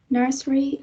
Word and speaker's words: nursery: Now, nursery can be said in 2 syllables, right? Nursery. So probably this vowel sound in the middle, a schwa, is elided.